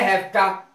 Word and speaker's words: hafta: अब है हैफ्टा, हैफ्टा have to की शॉर्ट फॉर्म है, शॉर्ट में बोलते हैं हैफ्टा, HAFTA, हैफ्टा, हैव टू की शॉर्ट फॉर्म।